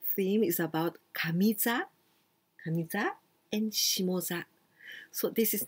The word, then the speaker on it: shimoza: But here we pronounce shimo, shimoza.